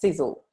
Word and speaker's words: Sisel: a company which was founded in 2006 it's pronounced sizzle which stands for science innovation success energy and